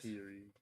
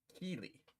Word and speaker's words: Keely: Kiri. Keely. Not Kiri. Not Kiri. Keely.